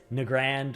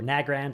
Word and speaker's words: Nagrand: add and this is nrand or nagrand I've heard it pronounced both ways uh this is one